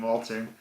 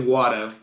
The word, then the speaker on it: Watto: They say it like Watto. At one point, I think Liam Neeson is saying, I don't think anybody gave him the memo, because I'm pretty sure he's saying Walter.